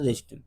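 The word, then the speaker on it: wrist: एंड सट एंड सल्ड हर रिस्ट ज उसे बेजती इंसल्ट महसूस हुई तो वो घर गई अराउंड लगभग सा 11 बजे रात में वह घर गई और उसने अपनी कलाई काट ली डब्लू साइलेंट जब उसे इंसल्ट महसूस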